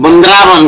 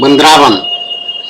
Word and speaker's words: वृंदावन: व्यायाम करना पड़ता है वृंदावन बहुत सारे लोग वृंदावन ना उच्चारण नहीं कर पाते हैं बृंदवन कहते हैं वृंदावन तो जब चुनावी मंच